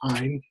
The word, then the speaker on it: Ayn: Her name is Ayn Rand, pronounced Ayn.